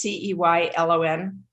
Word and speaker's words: Ceylon: The Ceylon cinnamon, it's Ceylon, is how they distinguish between them.